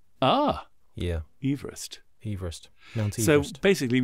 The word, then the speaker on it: Everest: Apparently we pronounce Mount Everest wrong. Do we? The chap who named that mountain pronounced his surname Everest. Ah. Yeah. Everest.